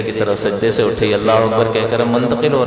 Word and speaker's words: اکبر: فاسد کر دے گا۔ اسی طرح اکبر کو بعض لوگ جو اکبار اللہ اکبار، تو یہ بھی چیز نماز کو فاسد کرے گی۔ تو ان دونوں چیزوں کا، ان دونوں لفظوں کا تلفظ احتیاط کے ساتھ درست ہونا چاہیے۔ اللہ اکبر، اللہ اکبر، نہ حمزہ کو کھینچنا ہے، نہ اکبر کے با کے بعد جو ہے وہ الف کا اضافہ کر کے اس کو کھینچ لینا